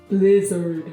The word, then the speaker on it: blizzard: You got a little bit of a Korean E sound going on. Say bleh. Bleh. No, bleh. Bleh. Blizzard. Blizzard. There you go. You just gotta talk low. I can't believe I have to take this test in this blizzard. But don't separate it too much.